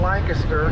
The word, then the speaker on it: Lancaster: after their home in Lancaster, England. Oh, and that's how they sounds pronounce like it, British. Lancaster. Yep, very British.